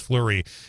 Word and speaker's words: Fleury: year old Ava Fleury her last name f-l-e-u-r-y that's pronounced flurry she'll be starting her